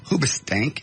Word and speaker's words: Hoobastank: And finally, Hoobastank. Is that how it's pronounced? It's a band. Yes. Did you hear this? Hoobastank has had to cancel.